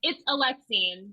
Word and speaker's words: Alexene: Please welcome Olivie Blake, aka Alexene Farol Follmuth. Did I get it? Oh, I hope I got it. No, it's Oh, okay. all right. It's Alexene, but it's I thought that's fine.